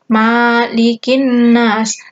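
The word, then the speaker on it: مَلِكِ النَّاسِ: Kemudian ayat kedua, malikin nas. Ma-nya itu pendek. Harus diingat-ingat. Ini sering sekali ada yang bacanya panjang. Malikin nas. Salah ya. Yang benar itu pendek. Malikin nas.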